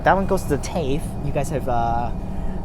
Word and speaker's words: TAFE: one goes to the Tafe you guys have uh corrected me last time on how to pronounce that stupid that that place is cave not tough Tafe so that's why it